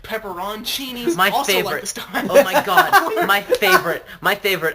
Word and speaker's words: peperoncini: full of green peppers the correct pronunciation is pepper on Sini's peperoncinis yeah yeah I told banana peppers are a separate thing you am petrosini's normally in the u.s.